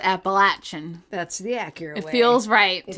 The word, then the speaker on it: Appalachian: I said Appalachian.